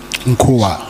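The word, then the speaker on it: Nkhuoa: And you then say Minister Cyril advised you that he knew Lieutenant, the spelling, is it Nkoa? N-K-H-U-O-A. Nkua, yes. Nkua.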